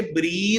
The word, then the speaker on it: breathe: ये जो BREATHE है ना, ये इसकी प्रोनाउंसिएशन, इसकी करेक्ट प्रोनाउंसिएशन बच्चे ब्रीद है। इसकी करेक्ट प्रोनाउंसिएशन ब्रीद है। ठीक हो गया, सांस लेना। जो ये वाला है विदाउट ई, इसकी करेक्ट प्रोनाउंसिएशन ब्रेथ है। ब्रीथ सांस लेना, ब्रेथ खाली सांस, नाउन के तौर पे।